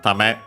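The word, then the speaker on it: 為: First and foremost, we have Tame. Should be accented on the last syllable.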